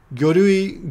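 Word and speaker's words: 魚類: Gyorui, gyo is fish or sakana. In this case, we pronounce it gyo.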